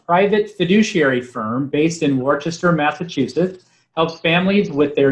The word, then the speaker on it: Worcester: Just because I know that my family will jump on me if I don't correct you, it's Worcester, not Worcester.